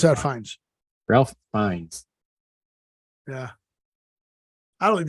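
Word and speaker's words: Fiennes: Liam Neeson yeah in real Phoenix fines you pronounce that fines Ralph finds yeah I don't think they look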